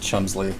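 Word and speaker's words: Cholmondeley: There's a 5-syllable word that is pronounced Chumsley. Ooh. And whether it can be said, or just Chumley, I think, and whether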